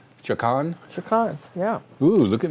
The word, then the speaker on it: Chacon: Well, so why don't you spell it? C-H-A-C-O-N. Chacon?